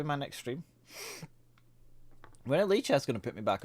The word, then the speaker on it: Lichess: Why is it pronounced Lee chess and not lie chess? Because they never lie.